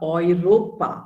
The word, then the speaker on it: Europa: body part okay then when e and e and u are combined together the pronunciation is oi okay oi so uh oy ropa so germany or germany is in europe right so germany is in europa europa is the continent and the currency is oiro is pronounced as oi true okay and then